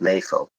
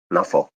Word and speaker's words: NAFO: get to talk about nefo nafo nefo nafo however you pronounce it it's both both are correct uh but it's it's